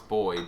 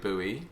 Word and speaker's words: buoy: I mean, the only time we do think that is when we found out that Americans pronounce boy, buoy.